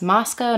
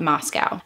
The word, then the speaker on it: Moscow: From everything that I've read online, locals refer to the area as Moscow, not Moscow. I just want to make that clear because I know that some people may be a bit confused on the way that I'm pronouncing it.